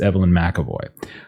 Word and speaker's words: Evelyn McAvoy: I said the name wrong last time. It's Evelyn McAvoy.